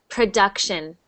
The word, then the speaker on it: production: one production so that that u sound is actually a instead of U so it's production production yeah but you're